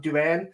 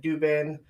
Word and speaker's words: Duban: I do believe I did ask to correct me if I said it wrong, Duban, because I said Dubin, Dubbin. I didn't know Duban.